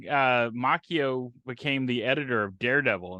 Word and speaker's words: Macchio: reveal that yeah well apparently we were mispronouncing his name last time it's Ralph Macchio but he doesn't pronounce it like rap Macho yeah uh but yeah